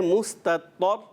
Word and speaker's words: مستطر: تلفظ جب پیاری بچی کوشش کرنا ہے مستطر, یہ تا جو ہے تا زبر تا کو ہم جب ہجے کر رہے ہیں تو اس کی ادائیگی یعنی حرکات کو کھینچنا نہیں ہے, تو کوشش کریں حرکات کو بغیر کھینچے ادا کریں.